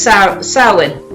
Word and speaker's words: Samhain: So, Celtic celebrated Halloween as Samhain. That's the way we pronounced it.